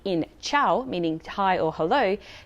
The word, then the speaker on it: ciao: k sound but why one rule to remember is that c followed by e or i makes it a soft c h sound for example chao meaning hello chenna meaning